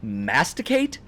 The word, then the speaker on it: masticate: When you masticate, it bothers me. But see, now that's one where I pronounce the T, masticate.